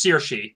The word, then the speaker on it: Saoirse: Tanya I'm gonna burn under that sours it's pronounced seer she saoirse ronan for Lady Bird and Meryl Streep